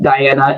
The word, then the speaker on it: Dajana: I know it's like the genre, but it's the Croatian way of saying Diana, and it's the reason